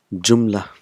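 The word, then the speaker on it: جملة: Sentence is called jumla in Arabic. Jumlatun, but we will pronounce it jumla. So last letter is not pronounced.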